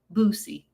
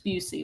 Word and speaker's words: Busey: And you called him Boosie. I mispronounced the man's name. It's Busey.